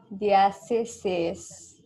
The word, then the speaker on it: Dieciséis: So over here, you'll divide this word into three syllables. Okay. The first syllable will be die. Second one will be stay. And then you will do seis. Dieciséis.